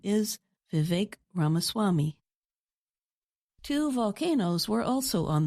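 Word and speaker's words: Vivek Ramaswamy: The correct way to say his name is Vive Ramaswami.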